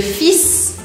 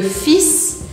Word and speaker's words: fils: Presta atenção, porque aqui você precisa pronunciar esse S. Repete aí comigo. Le fils, le fils.